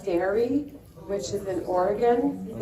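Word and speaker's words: Daré: There's a company called Dairy, which is in Oregon. Has anyone heard of it? It's spelled D-A-R-E.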